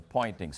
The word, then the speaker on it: Poynting: But if you now define a vector S, it's called the Poynting's vector, but spelled with a P, to be E cross B over mu 0, the magnitude of that vector is precisely the intensity.